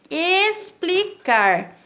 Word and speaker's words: explicar: explicar Opa outra palavra explicar explicar não se escreve com s e sim com x onde o X tem som de s Tá bem então vamos